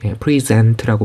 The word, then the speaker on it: present: 이 제시하다라는 뜻을 가진 이 단어는 강세가 앞이 아니라 뒤로 가요. 동사인 경우에. 그래서 present라고 발음되는 이 단어는 제시하다.